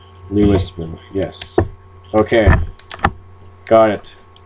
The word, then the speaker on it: Louisville: Louisville, yes. Okay, got it. Spelt like it. No, sounds like it's spelt.